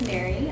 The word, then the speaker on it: Marii: Hi everyone, my name is Marii, spelled with 2 I's but pronounced just like normal Mary.